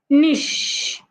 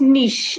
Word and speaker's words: niche: we have is n Nish not nich not Niche the C H in that word sounds like sh remember we had said